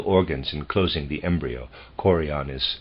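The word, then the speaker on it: chorion: the other female organs in closing the embryo coron is spelled c h o r i o n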